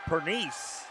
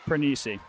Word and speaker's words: Pernice: That was senior Charlotte Pernice. Or Pernice. Pernice. Thank you. Chris is here to correct most of my mispronunciations.